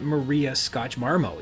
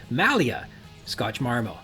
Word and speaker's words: Malia Scotch Marmo: draft of the script it's not Maria Scotch marmo it's Malia Scotch marmo she's where could I